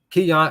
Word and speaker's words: Keon: here because I want to say it right Keon Ellis yeah Alabama stat seat belt hey that's